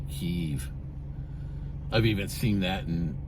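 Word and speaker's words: Kyiv: who for how long people were mispronouncing their Capital as Kev instead of keev I've even seen that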